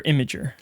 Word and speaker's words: Imgur: Imgur Imager how do you say is it Imgur or imager it's image imager it's Imager with about the